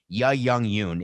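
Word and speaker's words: Youn Yuh-jung: love the movie minari at least make sure you say her name right ya young yoon is her name she plays the grandmother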